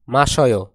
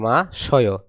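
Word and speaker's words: 마셔요: মাসয়। এর উচ্চারণ হবে মাসয়। হওয়ার কথা কি মাসিয়, কিন্তু এরা উচ্চারণ করে কি মা শয়।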